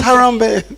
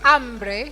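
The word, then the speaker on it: hambre: I thought it was Harambe. No. Ambre. Ambre.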